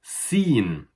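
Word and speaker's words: سين: The letter afterwards is sin. And sin is exactly the same as in pronunciation as the S in English. Sin, like S.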